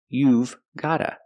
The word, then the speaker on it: you've got to: contraction you've got to pronunciation gotta you've gotta but in America we make this mistake and we don't pronounce the V sound so we just say